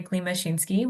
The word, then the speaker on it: Klimashinsky: a fun last name, and you may wonder why I say it like that when it's spelled like something else. But that's because my husband is a Polish immigrant. And so I took his last name. And so that's why we keep the Polish pronunciation of it, which is.